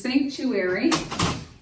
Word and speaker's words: sanctuary: Now, airy is technically two impulses, airy, but we are not going to divide that A-R-Y because it forms a suffix. So we're going to leave that intact, airy.